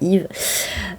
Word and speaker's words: Eve: Enfin, Yve et Charlie, il faut prononcer Yve.